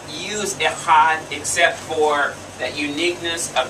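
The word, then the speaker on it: אחד: what's masculine for one echad the back of the throat you get a sound there right let's try it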